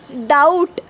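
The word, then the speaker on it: doubt: ओ यू टी इ उच्चार एकदम clear okay पण परत हुशार लोक आले हे म्हटले अरे हा लॅटिन वर्ड डुबीटारे सारखं दिसलं पाहिजे म्हणून त्यानी मध्येच बी आणून टाकून दिला आणि शब्द झाला डाऊट डी ओ यु बी टी आता मला सांगा इकडे बी च काम काय ओके नुसता बसलाय तो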